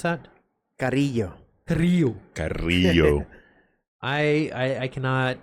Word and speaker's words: Carrillo: Carrillo. Carrillo. Carrillo. I cannot. I can roll the R's, but I can't get that la noise in there.